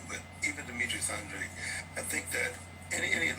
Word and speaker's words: Andrade: I think he gets sick of trying to explain it to people, but everybody says Andre, but I think that's actually wrong. But even Demetrius Andrade, I think that any